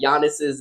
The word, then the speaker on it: Giannis: ahead and get that his name is GIS no y yan yan silent G okay it's Giannis damn I [ __